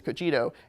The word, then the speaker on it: Cogito: Cogito, this goes into, and that's how you pronounce it, it's not Cogito, it's Cogito, goes into customer service and the way the AI is really impacting customer service.